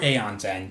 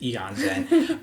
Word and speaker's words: Aeon's End: My number 4 is a game called Eon's End, or Aeon's End, depending on how you want to pronounce it. I think I looked it up. I think the proper pronunciation is Eon's End.